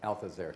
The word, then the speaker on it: Althusser: me think of this Marxist philosopher called Louis Althusser. I don't know how to say it. Althusser.